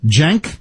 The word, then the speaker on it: Cenk: Yeah, but I think you pronounce it like junk or something. Jenk? Yeah. Okay, I know about him because I know some people who've worked with him. And that's how they pronounce his name.